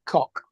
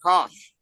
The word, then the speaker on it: Koch: Okay, Officially, so that being a German word, it is actually pronounced cock. okay, so And- Julia Fletcher. In Australia, Oh, we call that crap. Kosh.